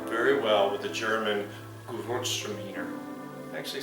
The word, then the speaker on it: Gewürztraminer: This would pair very well with the German Gewürztraminer.